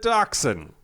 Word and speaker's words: dachshund: The dachshund.